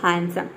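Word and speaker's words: handsome: बता दिया है कि एनडी किसी भी वर्ड के बीच में एनडी एक साथ आता है है वहां पे डी लेटर जो है साइलेंट रहता है वर्ड के बीच में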